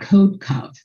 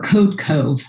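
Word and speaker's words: Codecov: next let's talk about code cov or code cove i've heard it pronounced both ways but that supply chain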